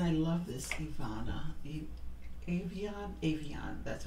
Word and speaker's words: Avon: facial wipes and I love this Iana Avon Avon that's how you pronounce it it's a facial spray it's really